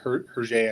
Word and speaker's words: Hergé: Those are more cartoony, but I just loved the style, like Hergé, I think you say his name.